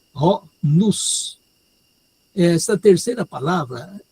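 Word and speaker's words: νοῦς: A palavra que está sendo traduzida aí é ho nous. Essa terceira palavra, N Omicron Y sigma, a pronúncia é nous.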